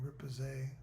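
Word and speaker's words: riposte: Uh, it increases dodge, parry, and rip and ripose.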